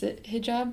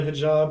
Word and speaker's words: hijab: And for the sorry if I'm butchering this, hijab, is that how you say it? Yeah, hijab. Hijab, yeah.